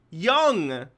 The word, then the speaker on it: Jung: Young! It's pronounced young!